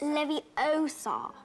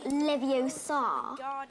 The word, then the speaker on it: Leviosa: Besides, you're saying it wrong. It's Leviosa, not Leviosa.